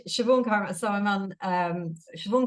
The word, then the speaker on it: Siobhan: no no it's fine so it's shioon so I'm on um